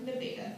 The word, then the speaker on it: Nevada: Nevada, yes, it's spelled like Nevada, but pronounced like Nevada, the locals get really excited to mispronounce it,